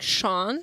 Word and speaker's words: Sean: that's one of the only names where it's only an S, but you say sh.